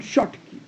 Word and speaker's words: Schottky: Proper pronunciation is Schottky, Schottky defect.